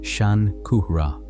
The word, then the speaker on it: Shankara: His name in the form that has reached English is Shankara pronounced Shan Kuhra.